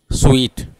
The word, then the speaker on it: suite: सो वो ई, मतलब वहाँ से वो साइलेंट रह जाता है इंडिया में, इसीलिए हम बोलते हैं उसको बोलना चाहिए स्वीट।